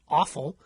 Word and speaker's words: offal: And they found that hepatitis E was associated with consumption of offal. I know it's pronounced offal, but I'd rather pronounce it awful because I don't want